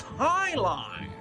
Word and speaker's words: Jai Alai: It's pronounced highlight.